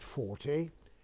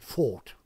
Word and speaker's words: Forte: all about of course we didn't pronounce it 40 we pronounced it fought the owners four days were going to give